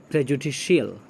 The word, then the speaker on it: prejudicial: गौर किया प्रोनाउंसिएशन आपने, प्रेजुडिशियल, प्रेजुडिशियल नहीं पढ़ेंगे या सीएल नहीं पढ़ेंगे, दिस इज़ रॉन्ग। प्रेजुडिशियल, तालव्य श एंड ल अंत में, या ल बोलते हैं आप, प्रेजुडिशियल, प्रेजुडिस, प्रेजुडिशियल।